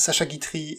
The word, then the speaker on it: Sacha Guitry: I will, however, let Chris go there for this time because he pronounced Sacha Guitry and Désiré quite right.